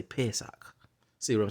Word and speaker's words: Pesach: They call it Pesach, but we say Pasak. But it's the vowel pointing here say Pesach.